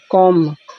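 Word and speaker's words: comb: देखिए यदि जब कभी यम के बाद बी आए तो साइलेंट होगा। जैसे कॉम मिस कंघा होता है।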